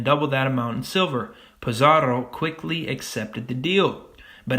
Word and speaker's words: Pizarro: In 1533, Spanish conquistador Francisco Pizarro, you gotta roll the R's, captured the Inca leader Atahualpa.